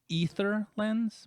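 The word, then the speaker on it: Aether Lens: on dis correctly ather lens I think is ether lens but I don't like how that sounds so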